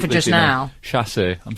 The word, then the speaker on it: chassé: Chassé. I'm saying chassé throughout.